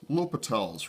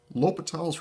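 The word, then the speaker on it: L'Hôpital: rule is known as l'hopital's rule you can tell it's French because there's a bunch of letters in it you don't pronounce l'hopital's rule states that if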